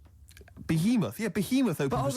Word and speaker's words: Behemoth: Behemoth. Behemoth is it?